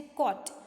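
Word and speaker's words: caught: Next है कॉट, सो कॉट में जी एच का प्रोनाउंसिएशन नहीं होता है बेटा, सो यहाँ पे जी एच के नीचे आपको अंडरलाइन करनी रहेगी।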